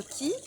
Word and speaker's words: chi: Alors aujourd'hui, nous allons évoquer, je vais parler de ce qu'on appelle le chi qui se prononce aussi le ki.